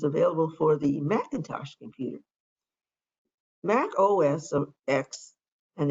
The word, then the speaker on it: Mac OS X: for the macintosh computer mac os of x and the x can be pronounced either as 10 or the letter x is an operating system